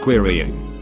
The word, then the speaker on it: querying: for the last time you're not queering the database it's pronounced querying if that's true why